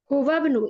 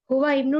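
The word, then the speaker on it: هو ابن: हुवा बनु ये हमजा हमतुल व्सल है। इसलिए हम ये नहीं पढ़ेंगे। हुवा बनु पढ़ेंगे। ठीक है ना? हुवा इब्नू नहीं पढ़ेंगे। ये हमतुल व्स है। ये आप प्रोनाउंस नहीं करेंगे।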